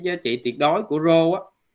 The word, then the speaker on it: rho: là cái rho đó, cái này mình đọc là rho, rho XY ha, thì gọi là hệ số tương quan.